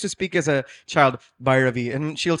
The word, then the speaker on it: Bhairavi: how I used to speak as a child, Bhairavi. And she'll say Bhairavi, say it properly. Because this has to happen as a child. We were doing it as a joke, and I can say Bhairavi, Shankara Bharanam, Swararaga Sudala.